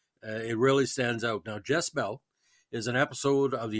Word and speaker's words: Jess-Belle: 4 a young woman whose name sounds like Jezebel pronounced fast is spurned by the